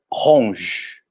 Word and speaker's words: rouge: essa palavra aqui ó então já que o e não pronuncia no final como a gente pronunciaria esse rg oi gente falaria rouge rouge a gente não vai dizer um g ou juro é ramos aquele dia como se tivesse um som dj e para ali mesmo